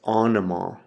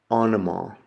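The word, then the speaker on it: ὄνομα: The next letter is an omicron, and it makes a short O sound like ah, often, often. And the example I have there is the word for name, and it's onoma, onoma.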